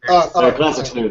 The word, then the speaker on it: classic snoot: is uh was how do you pronounce it again like n scoot classic classic snoot that's it yeah classic snoot yeah classic snoot